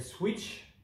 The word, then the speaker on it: Sweetch: amis suisses donc c'est une marque qui s'appelle switch ça s'écrit sweet16 h voilà sont des chevilles de